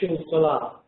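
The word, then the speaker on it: Xul Solar: astrology the esoteric article Schulz Salah in Argentinian Spanish the painter whose name I'm whose work I'm looking at is pronounced schul salah.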